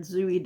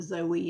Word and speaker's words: Zooey: Nicole said Zooey Deschanel. I'm almost certain her name is pronounced Zooey. Everyone pronounces it Zoe. It's got 2 O's. Pretty sure it's Zooey, but anyway, Zooey Deschanel.